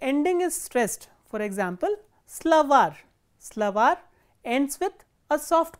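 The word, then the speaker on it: словарь: is stressed, for example, slavar, slavar ends with a soft consonant or a consonant with a soft sign, slavar, and you can see that the last syllable is stressed, var.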